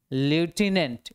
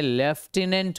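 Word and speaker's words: lieutenant: NDMA member अब देखिए यह एक वर्ड जो है ना लूटने इसको हम हिंदी में लेफ्टिनेंट भी बोलते हैं यह वर्ड आपके स्पेलिंग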